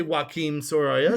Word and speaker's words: Joaquín Sorolla: It's Joaquín Sorolla or you could say Joaquín Sorolla.